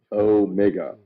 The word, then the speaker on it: omega: omega and omnicron so omega is omega with the o being a long o an omnicron being a short o correct army and his